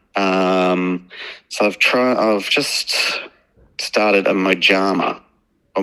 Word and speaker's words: mojama: So I've just started a mojama, or mohama, I think it must be pronounced, because it's Spanish.